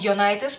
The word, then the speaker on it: Jonaitis: general, o los hispanohablantes pronuncian su apellido Jonaitis, porque así es como debe de pronunciarse, porque es un apellido sumamente lituano. Posiblemente lo pronuncian como Jonaitis, no estoy segura, porque empieza con J, pero bueno, Lee Jonaitis